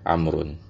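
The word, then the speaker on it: عمرو: Kalau setelah ain, mim dan ra ada wawnya, maka kita bacanya Amrun ya. Tapi kalau nggak ada wawnya, kita bacanya Umar ya.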